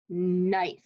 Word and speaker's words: knife: is a trick one knife knife sounds like it starts with an n but it actually starts with a k it's a silent k so that's a tricky